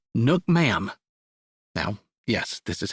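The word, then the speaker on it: nước mắm: dipping sauce that goes with it it's called Nook ma'am now yes this is how you spell it no it's not a typo it's pronounced Nook ma'am from everything I've been able to find and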